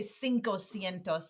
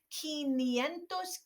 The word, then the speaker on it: quinientos: a little different keen you don't say cinco sientos that's not it that's not the word it's keen but how do you say